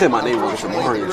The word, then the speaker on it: Amarian: He said my name wrong. It's Amarian.